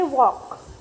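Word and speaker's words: walk: नाउ से the silent letter in the following words allowed, देखो यहाँ पे भी हम L नहीं बोलेंगे, क्या बोलेंगे, वॉक, मोर, तो उसमें साइलेंट लेटर कौन सा है, E, मोरे, ऐसे बोलते हैं नहीं, मोर।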